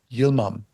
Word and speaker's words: Yilmam: much you're welcome and I'm sorry I mispronounced your last name which is Yom that is correct yeah all right awesome